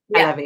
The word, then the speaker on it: Halevi: Now, I'm not sure the pronunciation is Halevi. Halevi, yeah.